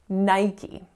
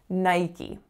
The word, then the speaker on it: Nike: book Facebook Facebook so next up we have Nike Nike now this one actually I was a bit